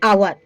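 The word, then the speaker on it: hour: उसे किया हैं क्यों क्योंकि यहां पे हा हम लोग का साइलेंट हो जाता है ठीक है हा साइलेंट होता है अब बच्चा ओ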